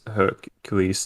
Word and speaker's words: Hercule: The movie came out as Hercules there as well, I guess. Yeah, and the French pronounce it as Hercule.